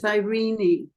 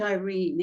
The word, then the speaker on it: Irene: Irish say Irene but the proper pronunciation is irini and it has a much better ring to it irini than Irene